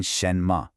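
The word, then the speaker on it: 什么: Then shenmma. That's a rising second tone followed by a light neutral tone.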